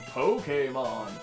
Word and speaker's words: Pokémon: This world is inhabited by creatures called Pokemon. That's how you pronounce it, by the way. Pokemon? Not Pokemon or Yeah. whatever the heck other people say.